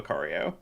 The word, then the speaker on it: Lucario: rare candies and eventually just evolve into a Lucario is that how they say it yeah that's